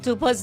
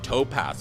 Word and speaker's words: Tupaz: A lot of people here in the United States call me Topaz, which is the birthstone. You know, because it's easy, they're so familiar with it. So I always have to correct them. It's spelled with a U instead of an O. It's Tupaz, not Topaz.